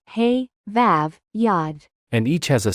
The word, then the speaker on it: ו: can carry all vowels the letter VAV originally produced a wow sound it wasn't a v as it is today and this is